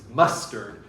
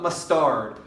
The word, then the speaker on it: mustard: scan mustard this way it's mustard it is not mustard put a lot of